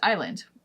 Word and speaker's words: island: how to spell something one example is Island which an island is Land O I see what you did there it's a great way to remember that there's a silent s there debt for example has